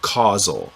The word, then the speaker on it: causal: And yes, I said causal. That word, when you see it, is spelled very similarly to the word casual. I'm saying causal, C-A-U-S-A-L.